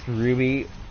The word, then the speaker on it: RWBY: It's pronounced Ruby, I think. I think that's how the anime is pronounced. But it's RWBY.